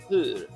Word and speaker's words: hur: Hur. Alright? And that's how you say it. It's like saying ooh, then pushing your tongue out.